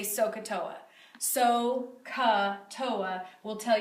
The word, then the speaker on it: SOHCAHTOA: adjacent so here's a way to remember it sohcahtoa that's how you say it sohcahtoa sign opposite